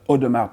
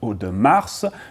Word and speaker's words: Audemars: company was originally called Audemars Piguet and Compagnie, meaning that there were other partners, family members at the start. Anyhow, you don't pronounce the S, it's not Audemars, you don't pronounce the